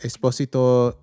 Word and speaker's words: Esposito: Um and then if uh you can pronounce the s like a z if you want to.